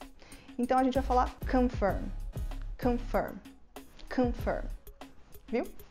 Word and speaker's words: confirm: Simplesmente, você deixa toda a sua musculatura relaxada e simplesmente solta o ar. Então vai sair Então a gente vai falar confirm, confirm, confirm.